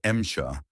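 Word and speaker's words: Эмча: The Sherman, called Msha by Soviet crews from the Russian pronunciation of M4, was respected for its comfort and mechanical reliability.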